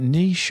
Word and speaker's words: niche: is a very small niche group. Is it niche or niche? It's either. I've looked it up. It can be either. There's not a singular pronunciation of it.